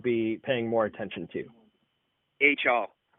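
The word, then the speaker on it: Achal: H.L. It's spelled A-C-H-A-L.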